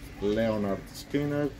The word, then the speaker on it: Lynyrd Skynyrd: From Lynyrd Skynyrd's 1973 debut album “Pronounced Leo-nhard Skinerd”.